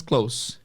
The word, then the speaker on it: clothes: roupas em inglês Ah se escreve CL o t h e s mas a pronúncia é apenas Close então maybe the color